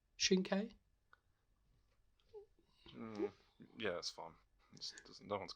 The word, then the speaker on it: Shinkai: And the next one is our next animation, which was Your Name by Makoto Shinkai. Am I right? Is that correct pronunciation? Shinkai?